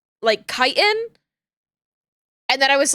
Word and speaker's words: chitin: Because chitin is spelled C-H-I-T-I-N. And it is a word that I thought for the longest time was pronounced chitin. It's chitin.